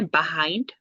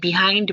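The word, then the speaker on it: behind: ওরা ইউজ করতে পারে বাহাইন্ড। হুম। আবার অনেকে এটা বিহাইন্ড বলে, বাট সঠিক উচ্চারণ হচ্ছে বাহাইন্ড।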